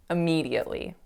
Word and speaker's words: immediately: So I almost said it perfectly, but the sound on that winning syllable, I didn't make it an E, I made it an A. So I said immediately, but the word is pronounced immediately.